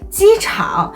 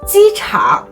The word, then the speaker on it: 机场: This means that the latter half of the sound does not rise as it normally does when used alone. For example, the word 机场 means airport is pronounced as 机场 instead of 机场.